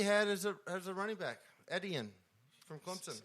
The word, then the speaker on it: Etienne: He doesn't even have an S in his name.